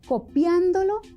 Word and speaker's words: copiándolo: Claro, en copiándolo, la sílaba acentuada es la antepenúltima y en copiándoselo, la sílaba acentuada es la trasantepenúltima.